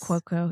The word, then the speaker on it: Cuoco: Cuoco, yeah.